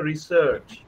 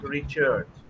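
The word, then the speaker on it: research: মানে প্রোনাউন্সিয়েশনটা এটা করতে হবে রিসার্চ, নট রিচার্জ, প্লিজ।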